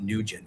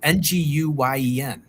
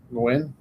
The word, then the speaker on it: Nguyen: It's not Nugent. How do you say Nguyen? Nguyen. I think the N is silent, isn't it?